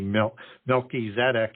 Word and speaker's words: Melchizedek: So with Melchizedek, and you can pronounce this any way that you want, it's a compound word. Could be Melchizedek, as it would be pronounced with the two individual Hebrew words, means king of righteousness.